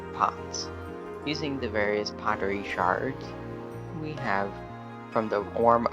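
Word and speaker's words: sherd: Treasures such as Pottery shards I know they are spelled curd but they are pronounced the same and you can find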